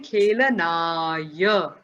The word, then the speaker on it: खेलनाय: Only in terms of pronunciation, you have to make sure you're saying khelanaya.